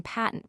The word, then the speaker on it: patent: Curiously enough, it is displaced in patent by the true flat slash a slash. The English rhyme the first syllable of the word with rate.